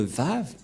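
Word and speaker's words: ו: lettre V et donc la prononciation du lettre V en hébreu selon la prononciation de Abraham et Moché on le prononce V mais pas W ou ou comme avec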